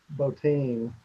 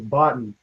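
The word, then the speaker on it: Bottin: Um, Rob Boutine, the the makeup guy, the horror makeup guy. I mean, when I was a kid, that was Botton. Rob Botton.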